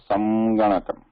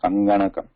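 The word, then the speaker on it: सङ्गणकम्: are saying it as samganakam. But while pronouncing it, we are not doing that, right? We are saying it is sanganakam.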